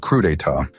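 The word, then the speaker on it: crudités: These ostentatious have been calling veggie platters crudits, pronounced crudea, this whole time.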